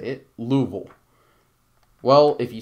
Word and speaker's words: Louisville: Do you say Louisville or Louisville? Or do you say it as the natives say it, Louisville?